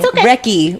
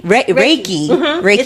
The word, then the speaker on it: reiki: reiki is basically reiki i'm saying it wrong wrecky reiki so it's using the